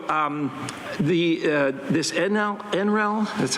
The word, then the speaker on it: Enel: rooftops already so um the uh this enel enal that's how you pronounce it they've actually done work here in